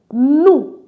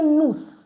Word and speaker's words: nous: So now the next is no new no meaning we look at it. I didn't say noose.